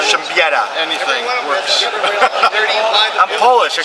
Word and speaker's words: Siembieda: gamers, Matt Lemke here with Through Gamer Goggles, and I'm with Siembieda. Yeah, I said it wrong again. Darn Polish Siembieda, roots. Siembieda. Siembieda.